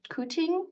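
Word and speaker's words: Quthing: So I lived right about where my cursor was, just north of Kuting, it's pronounced.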